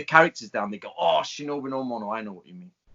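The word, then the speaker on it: 忍の者: person absolutely existed and it was pronounced shinobi no mono same ideograms same japanese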